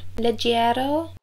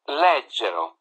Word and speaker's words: leggero: Leggiero? Leggero.